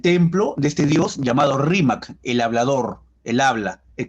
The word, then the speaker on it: Rímac: Algunas personas no pueden pronunciar muy bien la R, la cambian por la L, como los chinos, ¿no? En lugar de decir arroz, dicen alos. Igual había gente que no decía Rima, decía Limac.